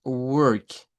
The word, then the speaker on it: work: Es muy cercano al schwa, ¿bien? Entonces se escucha bastante parecido, pero es work, homework. La palabra work lleva acento, es una sílaba tónica, suena con fuerza de voz.